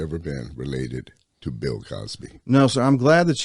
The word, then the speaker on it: Causby: I always had to say my name's Cosby spelled c-a-u-s-b-y no relationship all right all right